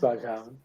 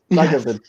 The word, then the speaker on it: Baghaven: It's not pronounced Backhaven. Backhaven. It's not even close to that.